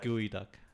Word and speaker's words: geoduck: got you dude it Psyduck that's how you pronounce it gooey duck is how you pronounce gooey gooey duck it's tasty I guess I'll I just call it geoduck it's very chewy it's not bad yeah that's